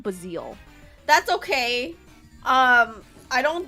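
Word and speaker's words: Buizel: I say basel, but I know it's No, I think that is how you say it, but I've always called them bazil.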